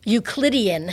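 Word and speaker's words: Euclidean: I'm not even sure if I'm going to pronounce the word correctly ukian ukian thank you yes I don't even know how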